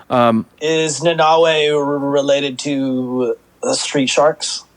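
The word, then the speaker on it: Nanaue: they say his name it's like an n and a bunch of vowels and so i put on the the subtitles and it's nanawe which a lot of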